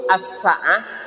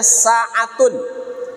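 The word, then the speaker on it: السَّاعَة: ada alif lam ya kalau pakai alif lam itu asaah maknanya adalah kiamat ya maknanya kiamat tapi kalau hilang Alif lamnya dibacanya saatun itu maknanya sesaat ya kan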